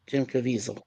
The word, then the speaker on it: Jim Caviezel: That is how he pronounces it, Jim Caviezel.